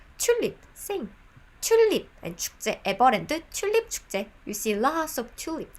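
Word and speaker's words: 튤립: tulip by the way the korean pronunciation of tulip is chulip you see lots of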